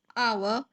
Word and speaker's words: hour: here we all know h is silent and the pronunciation is our um and the sound